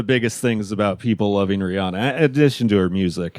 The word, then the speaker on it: Rihanna: It's Rihanna, not Rihanna. Rihanna.